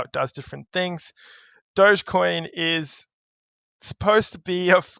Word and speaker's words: Dogecoin: a joke but it's not can you explain Dogecoin I hope I'm saying that right you are